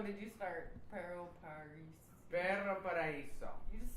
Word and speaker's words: Perro Paraiso: Perro Paraiso.